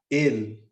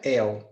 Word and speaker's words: el: temos um l então eu não vou pronunciar é um l como se fosse um U em espanhol se pronuncia